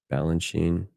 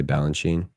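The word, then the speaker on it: Balanchine: You can see it's like do do you pronounce the end the E at the end of his name or do I just say Balanchin?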